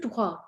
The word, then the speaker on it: droit: So the first question is from Judy, who says, tout droit, you didn't pronounce the T. No, I didn't pronounce it in tout because it's followed by D. And I didn't pronounce it in droit because it means straight on.